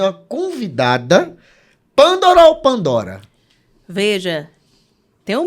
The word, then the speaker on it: Pândora: Mas minha mãe escolheu um acento circunflexo no primeiro A, então a pronúncia, de acordo com o cartório, é Pandora.